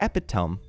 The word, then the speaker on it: epitome: My dad is the epitome Epitome it's pronounced.